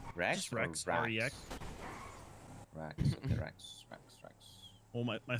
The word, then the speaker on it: Rex: R-E-X. Rex. Okay, Rex. Well, my full name is Rexarius, but everyone just calls me Rex. Rex searches? I don't know. Like the T-Rex.